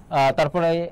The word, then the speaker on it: তরী: আর উচ্চারণের ক্ষেত্রে মনে রাখবে দীর্ঘইকারে ব্যবহার নেই, সেক্ষেত্রে কি হবে বলতো, হ্রস্বইকার হবে। তরি, এটা হচ্ছে উচ্চারণ।